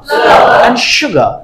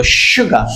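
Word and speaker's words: sugar: বল cake mixer mixer সুগার আমার সাথে সাথে বল সুগার আমরা কি বলতাম আগে সুগার সদি বলতাম তাই না আসলে স হবে না ব কোন বাচ্চা টাচা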